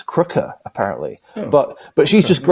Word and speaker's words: Krige: yeah so yeah so David David getting Alice kriger for it or or as she pointed out if you if you're doing pronouncing it correctly the proper South African ways it's Alice Kooker it's Kooker apparently but but she's just she's just grateful